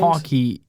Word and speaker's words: Hawke: Hawke. And yeah. Ethan Hawke. Isn't Hawke? Yeah. Ethan Hawke. Okay, yeah, that's true. But, Yeah. the E is silent, probably.